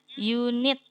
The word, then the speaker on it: unit: Contoh kemarin kan ada unit ya, unit gitu. Pakainya bukan en, begitu ya. Karena bacanya unit. Huruf depannya apa? Huruf depannya adalah Y kemarin ya, kalau nggak salah ya. Jadi kalau walaupun tulisannya unit ya, A I U E O, tapi bacanya Y, unit.